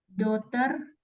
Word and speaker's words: daughter: sama ada lagi ini entar daughter juga gh-nya silence jadi cara bacanya apa daughter cara bacanya gimana daughter I daughter jadi GH sama h-nya dihilangin ya sama kayak ini juga